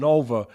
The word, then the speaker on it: Nova: Ford, Nova, as in supernova.